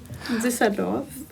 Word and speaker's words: Düsseldorf: Düsseldorf.